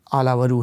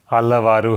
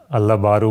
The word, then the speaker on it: आलावरू: आपके नाम के उच्चारण को लेके बहुत गलतफहमी रहती है, सही उच्चारण क्या है? कृष्ण तो मुझे पता है, संस्कृत से आया शब्द है जी, आलावारू है। आलावारू, जी, ओके। और बिहार में कैसे कैसे बुलाते हैं? अल्लाह बारू बोलते हैं और कई चीज़ें